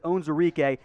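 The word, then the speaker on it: Onwuzurike: comments section to defense we go now levi owns eureka i've heard i pronounced like four different ways i am confident though that his owns enrique out of washington another opt-out for the 2020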